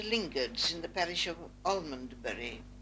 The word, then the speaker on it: Almondbury: Moving along Britannia Road, we cross into Lingards in the parish of Almondbury, what I call Amesbury, the old pronunciation.